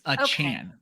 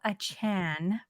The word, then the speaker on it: Achane: But I heard it rhymes with train, chain. No, he wants it to be Chan. It's Achane. So we're talking about Achane.